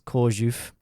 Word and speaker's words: Chorzów: It's at a theme park in Chorzów, spelt Korzał, in case you want to Google that, but obviously in Polish, letters have different pronunciation, so it's Chorzów.